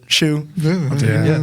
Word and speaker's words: Hsu: No, that's the same reason why my TikTok name is SHOE, because it's pronounced shoe, like a tennis shoe.